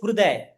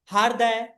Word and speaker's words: Hrudai: Your name is Hrudai. But if I call you Hirday, Harday, you Right. wouldn't feel good, right?